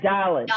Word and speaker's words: dalet: said Dalit. I Dalit. might have said Dalit. It Oh. Yeah, really we were helped taught me. Dalit with a D sound at the end.